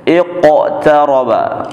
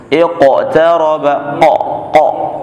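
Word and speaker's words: اقترب: Ya, iqtaraba, ya, bunyinya seperti hidup huruf qafnya, iqtaraba, ya, bukan iqtaraba, jangan iqtaraba iqtarabatis sa'atu syaqqal qamar, qaf bertasydid, ada tekanan khusus, syaqqal qamar.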